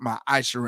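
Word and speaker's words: מעשר: Malachi 3 and 8-10 my AER ties is pronounced my aisher in the Hebrew it means tenth of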